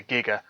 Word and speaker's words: giga: them would be a giga gram or a giga gram uh however you want to pronounce it it was originally but then they changed it to giga you know and a